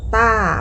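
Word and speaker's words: 大: คำ นี้ นะ คะ ออก เสียง ว่า ต้า ต้า แปล ว่า ใหญ่่ วรรณยุก ต้อง เป็น เสียง ที่ 4 ค่ะ ต้า ดู ตัว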